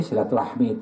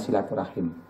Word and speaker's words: silaturahim: proses kelahiran bisa jadi silaturahmi itu sebetulnya artinya adalah menyambung rasa sakit kan jauh jadi yang benar adalah pengucapannya silaturahim Ini kata Allah dan